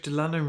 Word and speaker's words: Lannen: Good evening, my name's Lannen, rhymes with Cannon, and today I didn't leave the house.